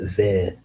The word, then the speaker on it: ver: Worm is ver. le ver That's v e r. That is worm in uh in French. v e r. It's kind of like green. Cuz green is s- uh is ver but it's with a d e.